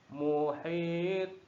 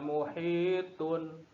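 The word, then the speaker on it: مُحِيط: harus dimatikan artinya disukun jadinya dibacanya mewah Rohim Muhir tokoh yang tebal besar sekolahnya kedelai kedengarannya muhith bukan muhitun karena ini akhir Kak kalimatnya salah satu ciri-ciri qolqolah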